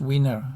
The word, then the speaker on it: Wiener: it probably should be Vino but it's pronunciation but it was American and so he um he likes his name to be pronounced winner I believe uh that